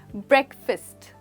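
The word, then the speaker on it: breakfast: इसको ब्रेक वाला ब्रेक नहीं कहते, ये क्योंकि हम यहाँ पर कुछ तोड़ नहीं रहे हैं, इसलिए हम कहते हैं ब्रेकफास्ट। दैट्स राइट दोस्तों। और यहाँ पर भी फास्ट नहीं बट फिस्ट, जिसमें कि एक बहुत ही सॉफ्ट सी साउंड है, तो आप कहेंगे ब्रेकफास्ट, यानी सुबह सुबह का खाना।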